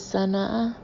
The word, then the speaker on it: Sana'a: Our immediate destination, said Shlomo, is Sana'a. Where? It's spelled capital S-A-N-A apostrophe A.